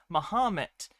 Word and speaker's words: Mahomet: It's a corruption of the old French pronunciation of Muhammad, which was Mahomet.